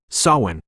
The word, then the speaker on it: Samhain: Sawin pronounced so in like you're planting a spiritual seed